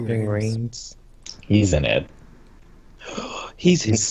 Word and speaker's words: Ving Rhames: Ving Rhymes? Is that how do you say his name? Ving Rhames.